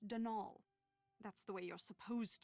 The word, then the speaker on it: Donal: caretaker danal delaney not donald mind you there's no d at the end so it's pronounced denal that's the way you're